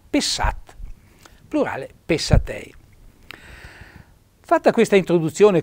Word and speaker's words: pessat: al singolare do S naturalmente e accento tonico sulla a non pessat ma pessat plurale patei fatta questa